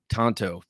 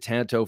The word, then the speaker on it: tanto: the show, Dave, that it is tanto. So from now on, I am changing how I pronounce it. I've pronounced it tanto for over 20 years. From now on, I'm calling it tanto because that's how the Japanese pronounce it.